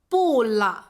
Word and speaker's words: 不了: 就可以说，不了 You can simply say, "bù le."